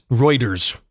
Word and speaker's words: Reuters: outselling Audi's considerably according to a report from rooters by the way um Reuters I'll say it right I like to mispronounce it though but anyway so the challenge